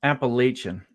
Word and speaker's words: Appalachian: properly yeah is I know it's difficult to pronounce um Appalachian it's um uh it's Appalachian Appalachian yes there